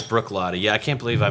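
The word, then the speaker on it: Bruichladdich: i c h it looks like brck it's pronounced Brook L it looks like bruck ladic is what looks like but it's Brook lot yeah I can't believe I messed that up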